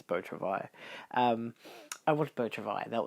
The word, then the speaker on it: Beau Travail: It's Beau Travail. It's French, so of course it's Beau Travail.